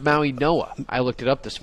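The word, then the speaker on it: Mauigoa: Maui Noah with an N. With an N. Yes. It's a silent G replaced by an N.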